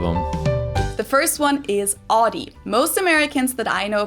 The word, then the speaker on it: Audi: The first one is Audi. Most Americans that I know pronounce it like I just said it, Audi. In German, we say Audi. Audi and there's actually a funny story as to where this name came from.